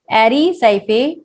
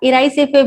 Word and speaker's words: Erysiphe: इसका causal organism है एरिसाइफे पॉलीगोनाई या इराइसेफे भी इसको प्रोनाउंस करते हैं, इराइसेफे पॉलीगोनाई।